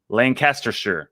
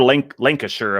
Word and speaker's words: Lancashire: Oh my God, I got roasted so bad, and I was like, Lancastershire. I now know how to say it, or Lancashire.